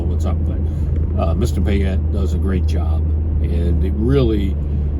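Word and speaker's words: Payette: gentleman's last name is uh pette I believe is properly uh properly pronounced but let me spell it for you p is and Peter a y e TT e and then the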